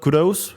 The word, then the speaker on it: kudos: Not kudis. Kudo kudos.